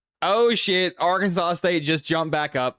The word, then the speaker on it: Arkansas: Or actually I got to pronounce it properly. Where is Arkansas State?